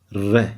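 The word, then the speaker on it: راء: So it's like re, re, re. It's an R. The R is kind of, you don't touch the roof of the mouth.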